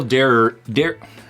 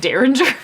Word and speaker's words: Derringer: Rabbit Hole Dereringer. Dereringer. Dereringer? Yeah. Dereringer. Well, why is there an extra E? Haven't you ever heard of Derringer?